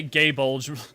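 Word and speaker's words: Gae Bolg: I've been pronouncing the weapons say gay bulge. Look, you aren't alone. You are not alone, but it is gay bulge. I don't even know the gay bulge is actually technically the correct way to do it.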